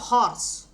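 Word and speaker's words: horse: দেখো হরস এটার উচ্চারণটা কি? হরস এইচ ও আর এসই এটা আমি উচ্চারণটা যদি লিখি হরস হরস হ এইচ আসছে এই হরস এইচ আসছে এইচ আসছে হরস আসছে এইচ এর উচ্চারণ এইচ এর মত আসছে তাহলে দেখ এইচ এর উচ্চারণ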